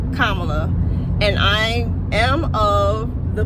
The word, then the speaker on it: Kamala: little dad yoke but he says Kamala so it's not that that's not how you say her name she and her mother whomever else pronounces pronounces it kamla and I am of